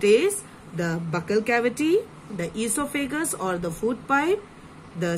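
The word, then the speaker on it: oesophagus: then you have the e so figures o is silent e so figures is o figures or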